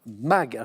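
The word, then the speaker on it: Maeght: des grandes fondations américaines fondation mag çaonce bien écrit M A E G H t mais c'est la bonne prononciation situé près de Saint-Paul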